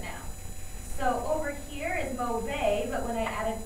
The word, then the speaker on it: mauvais: So adding this E beside this consonant means I'm going to pronounce it now. So over here is mauvais, but when I add an E, it becomes mauvaise.